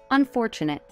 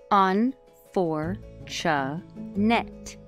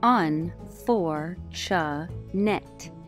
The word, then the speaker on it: unfortunate: the correct pronunciation of the word is unfortunate unfortunate on for cha net on for sha net here's an example of